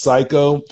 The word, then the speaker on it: Xaiko: the company is called psycho cider it's x-a-i-k-o pronounced psycho and we've had some really good success with